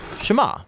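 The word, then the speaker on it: שמע: Now, the first word of the Shema is hear or listen, which in Hebrew is pronounced Shema.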